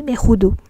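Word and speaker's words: מהודו: Ani me Hudu. So we pronounce the mem as me because it is before a guttural letter. Ha. That is pronounced from the throat.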